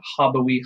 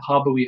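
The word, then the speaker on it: habui: So let's start with the first word here, which is habeo, habere, habewi, habetum. That is how you say it. You always do the 4 principal parts, right? So habeo, habere, habewi, habetum.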